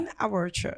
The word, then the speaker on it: In Our Church: as en charge l'émission in our Church je prononce bien in our church in our Church oui c'est bien d'avoir l'accent anglais derrière in our Church meaning